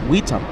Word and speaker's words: witam: Yeah, witam? Witam. Yeah, witam, willkommen, Wait, hold on. bienvenue. I'm saying Vitam like a V. Vitam.